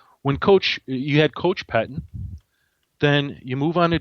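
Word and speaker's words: Pettine: Is that how you pronounce Patine or Pettin? Pettin. Pettin. When you had Coach Pettin.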